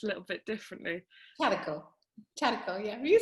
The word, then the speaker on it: Charco: Because I know that it's pronounced a little bit differently. Charco, yeah.